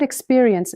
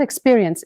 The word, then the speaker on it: experience: In the word experience, many learners stress the wrong syllable. It's not experience, it's expiry ends. The stress jumps to the middle.